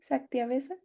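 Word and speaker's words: Śaktyāveśa: Y cuando los asociados del Señor descienden por orden del Señor, esas encarnaciones se denominan encarnaciones Saktiavesa. ¿Sí se pronuncia así? ¿Saktiavesa? Sí, muy bien.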